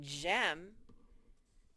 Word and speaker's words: gem: it has to say gem remember we learned that ge makes the j sound the soft g sound so let's write down